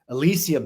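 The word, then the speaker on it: Elysium: Elisium seed. That's spelled E L Y S IU M. Elisium, like the Elisium fields, right, of ancient Greece, the Elisian secret societies.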